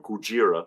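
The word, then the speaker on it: ゴジラ: Gojira. Oh, what is that? 1954 Gojira. That's the correct pronunciation of Godzilla.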